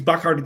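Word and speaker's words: Bacardi: Um, finding out the proper way to pronounce Bicardi is Bakard.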